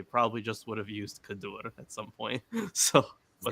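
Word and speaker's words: כדור: and I'm probably mispronouncing it uh is it pronounced kadur yeah very good okay so uh like that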